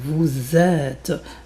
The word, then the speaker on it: êtes: Ça c'est très important parce que c'est la prononciation vous êtes. Donc, c'est beaucoup plus long le e.